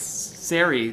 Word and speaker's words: Sari: It's not sorry. It's Sari rhymes with fairy.